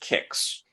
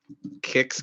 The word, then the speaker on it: Qix: with a game that I think is pronounced Kicks. I believe that's a cereal, Mike, and something that other kids have if they're pumped up. Yeah. So it's, and come on, I'm not sure how to pronounce this because it's spelt with a Q.